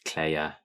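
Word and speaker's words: Kleie: um but yeah it's pronounced Claire um needs to do some research to get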